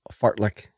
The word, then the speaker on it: Fartlek: General adaptation syndrome, LSD training or long, slow distance training, and then also Fartlek training. Yes, that is how you pronounce it.